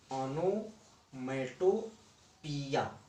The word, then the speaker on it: onomatopoeia: इसका लेकिन सही उच्चारण ऑनोमेटोपिया ये है।